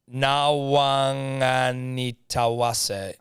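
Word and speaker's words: Nawaqanitawase: Nawanganitawase. Nawanganitawase. It's a fucking pretty good crack, mate. Because Q's are pronounced like NG in Fijian, I believe.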